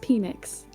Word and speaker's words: Peanix: It's pronounced Peanix.